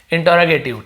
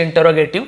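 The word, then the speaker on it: interrogative: ठीक है, इंटरोगेटिव, बहुत सारे इंटरोगेटिव बोलते हैं, अलग अलग, कई लोग इंट्रोगेटिव भी बोलते हैं, अलग अलग उच्चारण है, आपको जो सही लगे, हमें तो बनाने से मतलब है। वैसे इंटरोगेटिव इसका सही प्रोनाउंसिएशन है इंडियन में, इंटरोगेटिव।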